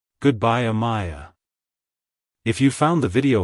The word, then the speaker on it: Amiah: to pronounce it correctly emphasize the a sound at the beginning followed by a clear my and a soft ah at the end like hello Amaya goodbye Amaya if you found the